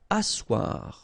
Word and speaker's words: asseoir: Asseoir, okay, remember you've got this beautiful but then phonetically doesn't exist. Asseoir, remember double S here, it's really strong s, really strong S, okay, so asseoir.